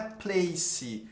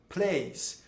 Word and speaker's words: place: É muito comum, gente, as palavras que são terminadas em E, em inglês, eles não terem essa pronúncia do E. E já o brasileiro gosta muito de ficar pronunciando o E no final das palavras.